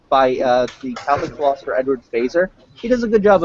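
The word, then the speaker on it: Feser: If you would like, I could suggest a good book to you by the Catholic philosopher Edward Fazer.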